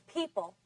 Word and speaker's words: people: It's people. People. People. Where's the stress? On which syllable? On the first syllable.